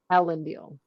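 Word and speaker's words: Elendil: Uh name pronunciation is Ellen Deal. Ellen Deal.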